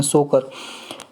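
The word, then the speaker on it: Tso Kar: ये T silent है इसमें, सोकर।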